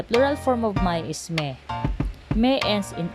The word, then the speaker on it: mes: form of my is Mei Mei ends in S so normally the S is silent and followed by a vowel it becomes miss and in this